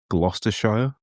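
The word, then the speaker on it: Gloucester: And for our American viewers, it's pronounced glosty.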